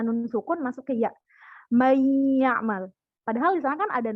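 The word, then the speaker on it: من يعمل: Contoh, may ya'mal, jadi tidak dibaca man ya'mal. Beda dengan izhar. Tidak dibaca jelas, tapi didengungkan. Suara nun sukun masuk ke ya. May ya'mal.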